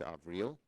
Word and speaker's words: Avril: In addition to Tony Blinken and Avril Haines, she corrected my pronunciation, it's Avril, President-elect Biden continues to roll out an impressive slate of nominees to his cabinet and other key administrative positions.